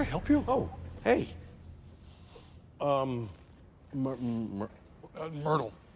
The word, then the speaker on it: Myrtle: Myrtle. It's pronounced like turtle or girdle. No, Myrtle.